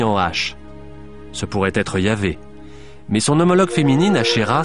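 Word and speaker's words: YHWH: Dieu s'écrit YH VH ce qui ne se prononçait probablement pas Jéhovah mais yah à Jérusalem un seul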